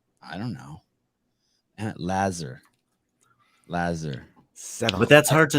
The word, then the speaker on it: Lazar: hear you say it the emphasis is on the first syllable lazar lazar lazar i